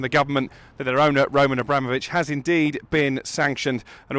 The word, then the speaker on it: Roman Abramovich: Say his name properly. That's how you say it, Roman Abramovich.